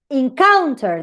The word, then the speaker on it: encounter: So, encounter, the same thing. Here you have a schwa. Count is stronger.